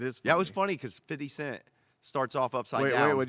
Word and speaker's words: 50 Cent: how you say that ain't 50 cents that's how you say it you need to know how to say it it's not 50 cents 50 cents but he he started